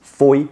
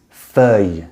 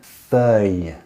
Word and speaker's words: feuille: So the incorrect pronunciation is feuille, feuille, just one incorrect pronunciation. The correct pronunciation is feuille, feuille.